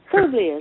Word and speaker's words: Publius: I've never learned how to pronounce Publius. Publius, yes.